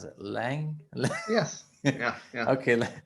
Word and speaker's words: Laing: Uh, how do you pronounce it? Lang?